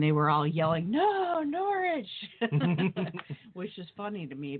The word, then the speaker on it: Norwich: and they say Norwich and when it's getting pronounced here in the u.s. it's Norwich and they were all yelling no Norwich which is funny to me because I it